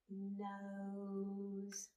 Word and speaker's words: nose: you're spelling this word, it's the last sound we hear because of Silent E doing his job. Sound it out with me. O, good. S, blend. Nose. Say it fast.